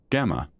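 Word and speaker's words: Gamow: Gamov simply could not resist the joke of having a paper on the origin of the elements authored by alpha, beta, and gamov pronounced as alpha, beta, gamma.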